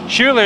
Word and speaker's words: Schuler: Schuler is how you pronounce the name, correct?